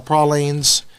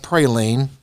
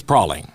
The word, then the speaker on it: praline: some authentic Louisiana style prolines yes it is pronounced Proline not praline settle down um it is in Louisiana but it's not Louisiana that's the it's prowling yeah okay they will